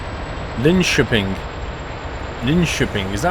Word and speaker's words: Linköping: The K in Swedish is pronounced sh, followed by an E-Y-O-I, so it's Linköping.